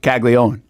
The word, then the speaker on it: Caglianone: It's I'll tell you what, this thrown me off for 2 years because it's like Caglianone, right? Yeah. That's really how it's spelled, and it's pronounced Caglione.